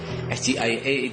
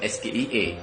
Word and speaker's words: SGIE: Ketika Anda membuat sebuah singkatan yang nanti akan ke bahasa Inggris, Anda harusnya ketika menyingkat pun ada pronunciation berbahasa Inggris. SGIA itu harusnya Anda katakan seperti itu, bukan SGIE.